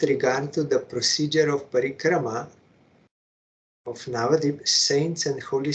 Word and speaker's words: parikrama: he is also saying as it should be said parikrama not parikram but foreign cement trip